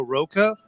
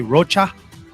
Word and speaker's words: Rocha: you good evening everyone my name is Roca or some in my family they say Rocha but I go with Roca because it rhymes with mocha thank you for joining